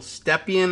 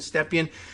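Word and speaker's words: Stepien: big excitement of bill stephen i think they were pronouncing his name stephen not present yesterday and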